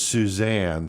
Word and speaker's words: Suzan: So Michael Bear Carson and Suzan with a Z. Susan is her name, but she puts the Z in there. And they pronounce it as Suzanne, so I don't fucking know. Suzanne Carson, their insane view on